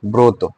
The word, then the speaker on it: ব্রত: এরপরে দেখো ব্রত, বয়ের সাথে রেফ যুক্ত রয়েছে না, ব ব্যঞ্জন বর্ণ না, এটার উচ্চারণে কি হবে? ও হবে, কি? ব্রত, ব্রত।